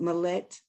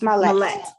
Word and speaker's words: Marlette: Is it Malet? And I'm sorry if I pronounced your name incorrectly. I see your hand. It's Marlette. It's Marlette. Marlette.